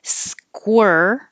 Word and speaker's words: squirrel: a long time now squirrel like you might start to say squirt but then finish with earl so when you're making